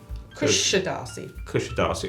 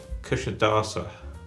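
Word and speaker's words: Kuşadası: Apparently, it's the S is a sh. Kusadasi. And the I at the end is not an I. It's Kusadasa. Oh, Kusadasa. Yeah. Kusadasa.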